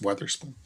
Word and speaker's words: Witherspoon: I learned Witherspoon, what we call Witherspoon, is pronounced Weatherspoon.